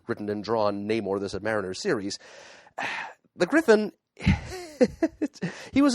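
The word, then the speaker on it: Sub-Mariner: him as to the pronunciation of Submariner, since Matt, like so many, like generations of fans before him, pronounced it Submariner.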